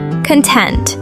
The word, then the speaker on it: content: Content. Stress the second syllable, not like the noun content.